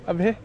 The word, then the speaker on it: Abe: Am I pronouncing it right? Yeah, Abe.